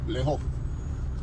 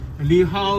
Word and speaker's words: 你好: So how do you say how are you in Cantonese? 你好. Leho? Leho? Yeah. Leho. Okay. Leho. Gotcha. Li Hao is Mandarin.